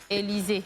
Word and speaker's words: Élisée: Elle s'appelle Élisée. Élisée. Avec E muet.